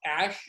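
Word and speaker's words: Æ: his ex and it's a symbol than that's pronounced Ashe even though it stands for AI it's the Elven symbol for AI so it's ex ash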